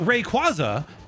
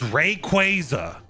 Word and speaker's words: Rayquaza: They told you it's not Rayquaza, it's Rayquaza. Two stress syllables and that violates rules of English.